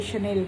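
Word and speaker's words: Chanel: तब मैंने रियलाइज़ किया कि ये शनेल का है। तो फिर मुझे अजीब सा लगा, किसी को भी अजीब सा लगेगा जो वेल वर्स्ड है। तो इसीलिए दोस्तों, the pronunciation is शनेल, शनल, Louis Vuitton, शनल।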